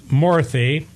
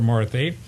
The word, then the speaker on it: Murty: Murali Murty, spelled differently, pronounced the same as the other Dr. Murty.